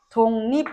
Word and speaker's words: 독립: 기억은 이응이 되는 거니까 기억은 이응으로 발음이 돼야 되니까 독립 요렇게 발음이 돼야 됩니다.